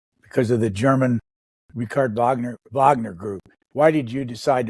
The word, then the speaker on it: Wagner: Others pronounce it because of the German Richard Wagner Group. Why did you decide to pronounce it Wagner and not Wagner? For a couple of reasons. In Russian, there is no W.